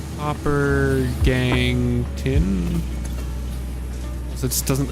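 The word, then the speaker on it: gangue: It It's just pronounced gang.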